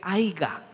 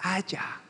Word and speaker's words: haya: No se dice aiga, se dice haya.